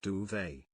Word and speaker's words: duvet: That duvet is pronounced duvet.